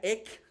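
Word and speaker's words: ἐκ: Y en griego, fuera de, que se pronuncia ek, con e y con k, está hablando que es fuera del mundo.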